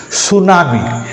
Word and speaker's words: tsunami: here this psychology psychology tsunami T is not used and here we find